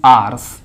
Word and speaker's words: hours: आवर्स बोलते हैं actually, इसको प्रोनाउंसिएशन करते हैं आर्स, ओनली आर्स बोलते हैं, HOURS।